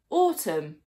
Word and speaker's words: autumn: Many words that end in MB or MN do not pronounce the B or the N. For example, lamb, thumb, hymn, solemn, autumn.